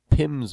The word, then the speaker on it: PIMS: You might hear somebody refer to something called PIMS, and what PIMS means is just the way we pronounce P-I-M, which is an abbreviation for penalties in minutes.